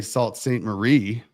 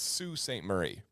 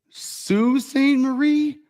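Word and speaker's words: Sault Ste. Marie: this one I mean I would have to say Salt St Marie you would think right it's Sue St Marie Sue St Marie and it's the Su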